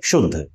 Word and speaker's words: शुद्ध: आपकी जीभ च वर्ग के यानी तालु के पास जाए और उसके बाद इसका उच्चारण करें तो इसे कहेंगे शुद्ध, या इसे कहेंगे शंकर,